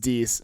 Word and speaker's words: dix: Oh, it's Dix, but it's spelled. Dix? Yeah, but it's Dix spelled. what? It's spelled Dix. So I was gonna say Dick. Dicks. Episode Dicks, boy, Look at let's you over go. there. But it's D. It's Episode- pronounced Dix.